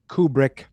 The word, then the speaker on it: Kubrick: Screenplay by Stanley Kubrick. Say it, Chris. Kubrick. Just spell it with O-O.